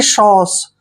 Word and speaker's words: sauce: देखिए एस का उच्चारण क्या करते हैं? स। AU का उच्चारण ओ करते हैं, ओ ऐसे, और CE का उच्चारण श करते हैं। जब भी CE इकट्ठा आता है तो CE को स पढ़ते हैं, यानी कि सॉस।